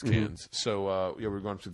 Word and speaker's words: Cairns: It's spelled Cairns. Okay, never mind. It's Cairns.